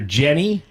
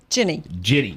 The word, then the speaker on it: Ginny: And you're Jenny? Ginny. Ginny. Like Virginia, Ginny.